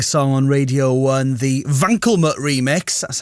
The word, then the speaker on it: Wankelmut: one day Reckoning song on radio one the vanut remix that's how you pronounce it Assaf a Vian apparently it's been